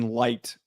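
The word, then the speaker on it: Licht: draft strategy under Jason Light, that's the correct pronunciation, right? It's not licked, it's light.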